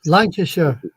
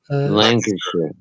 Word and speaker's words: Lancashire: Lancashire. Lancashire. Lancashire. Yeah, you don't pronounce any of the middle of it, Doc.